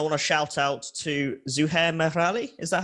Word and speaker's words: Zuhair Merali: Also want to talk about the sort of audio design, and I want to shout out to Zuhair Merali.